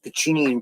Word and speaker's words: Pacinian: Pacinian corpuscles, that's how you pronounce them.